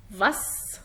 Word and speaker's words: was: فيبقى القاعدة بتقول لو حرف الاس جاء بعديه حرف متحرك في الحالة دي بننطقه زين، لكن غير كده بقرأه سين.